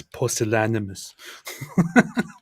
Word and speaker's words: pusillanimous: It's pusillanimous.